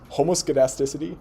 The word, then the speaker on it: homoskedasticity: This is HOMO, so the same, skedasticity, which is like variability. So this is homoskedasticity.